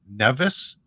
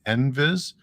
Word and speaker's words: NVIS: And I'm using the term, I'm calling it NVIS. I've heard some people call it Nevis, but I'm familiar with the pronunciation NVIS.